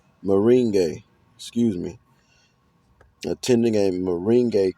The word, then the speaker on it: merengue: It's a hard one for me to pronounce. Merengue.